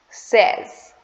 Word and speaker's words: says: Okay, the correct pronunciation of the word is says. Says. So according to Indian English, many of the people pronounce it as says.